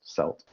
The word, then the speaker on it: celt: and i should say a celt is a typically a stone prehistoric tool spelt c-e-l-t pronounced salt most often it's the